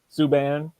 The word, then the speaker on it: Subban: Not sure if you guys heard about it or aware of it, but PK Subban, is that how you pronounce his name? Subban.